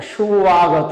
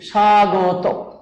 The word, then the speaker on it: স্বাগত: বলে, স্বামী বলে না, সুয়াগত বলে, আর আমরা সেটাকে বফলাটা উচ্চারণ করছি এভাবে সাইলেন্ট রেখে বলি স্বাগত।